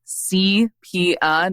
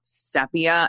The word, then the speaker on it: sepia: up and did some digging on the phonetic pronunciation of sepia and it is indeed CPA not sepia I think this bride kept referring to it